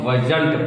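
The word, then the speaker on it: wasn't: उसी तरह वाज plus not बराबर क्या हो जाएगा, वजंट। इसको वजंट पढ़ेंगे, एक ही वर्ड पढ़ेंगे, वाज नॉट अलग अलग नहीं पढ़ेंगे।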